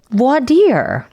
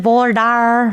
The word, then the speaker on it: voir dire: And that would be voir dire. Oh, yay! Voir dire. Or if you're in Texas, voir dire. I've asked you this before. In Alabama, is it voir dire? Voir dire.